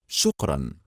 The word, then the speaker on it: shukran: Shukran. Shukran. That's it. One syllable to say thank you.